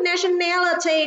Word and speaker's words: nationality: vì chúng ta thấy nationality trọng âm rơi vào âm tiết thứ ba còn ba từ còn